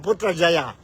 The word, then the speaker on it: Putrajaya: allr Let's talk about Putra Jaya ang background ng Putra Jaya Putra Jaya or Malay pronunciation po putra Jaya officially is the federal